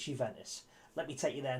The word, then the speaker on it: Juventus: um on loan from juventus that's no no you didn't mishear me you ventus spelt with a j by the way it's a little bit silent but it's juventus let me take you